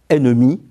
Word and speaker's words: ennemis: dans emmener ou ennui notons encore une exception ennemis qui se prononce et avec deux n enfin seuls les consonnes